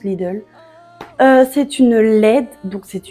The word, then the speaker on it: Lidl: j'ai acheté chez Lidl je sais pas comment vous dites mais nous en Belgique je crois que ça se prononce Lidl c'est une LED donc